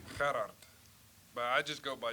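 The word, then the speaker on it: Gerhard: DeBeer give you a quick pronunciation help on his first name. Gerard.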